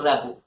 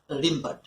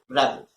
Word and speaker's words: Rimbaud: This is Arthur Rimbaud, not Arthur Rimbaud.